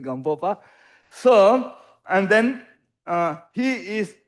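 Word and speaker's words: Gampopa: And then he is emanation of Gamboba, okay, or Gamboba, according to my pronunciation, Gamboba.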